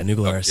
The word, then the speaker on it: New Glarus: Anyway, New Glarus. Am I pronouncing that right? Yeah, New Glarus.